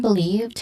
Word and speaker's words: believed: Believed, on the other hand, it has a stressed syllable on the second syllable, lived. Again, lived.